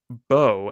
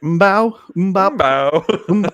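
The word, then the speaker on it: Mbow: Bowe out of Purdue. They am silent. I see that. Thank you for the pronunciation.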